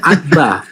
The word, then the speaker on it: abba: Dan itu dibaca abba. Dibaca abba. A BB ba.